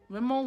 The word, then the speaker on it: Rimmel: from remnal remo rhythm no there's no n rimmel rimmel london yes that's how you pronounce it and with a hard